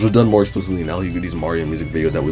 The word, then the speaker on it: Lhugueny: Yes, that is how you pronounce his name. LHUGUENY!